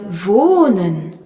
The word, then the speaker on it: wohnen: Dans la leçon 1, nous avions vu le verbe wohnen, habiter, où le H prolongeait la voyelle O.